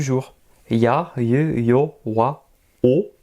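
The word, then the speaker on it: を: Ya, ye, yo, wa, o. Attention, le W on ne le prononce pas. C'est vraiment comme si nous avions qu'un O.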